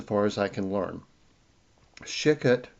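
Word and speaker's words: Shecut: Shikut, I guess is the way you pronounce this man's name.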